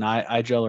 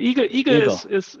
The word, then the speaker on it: IGEL: think i don't think it's it's called an igel or hedgehog in german i think you pronounce it a little differently yes yes the eagle eagle is hedgehog in german yes yeah very